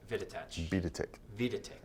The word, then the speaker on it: Videtich: Videtich. Rhymes with kick.